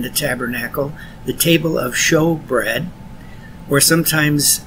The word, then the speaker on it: showbread: Here we see a review of another piece of furniture in the tabernacle, the table of showbread, or sometimes it's pronounced shewbread, S-H-E-W-B-R-E-A-D.